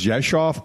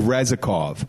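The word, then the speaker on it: Rzeszów: to it's it's pronounced Josh off but it starts with an R and there's no V in it and there's no F so you look out it looks like Reza cough when people go it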